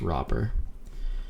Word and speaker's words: Robert: is Robert this is it's like Robert but it's like the T is silent so it's just robber and he was a